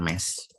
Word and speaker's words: mes: Tapi untuk di akhir, contohnya di sini ada me, ya tulisannya mes, usually. Mes itu adalah contoh dari kata kepemilikan seperti my, tapi kalau misalnya bendanya lebih dari satu, bacanya ini me, ya.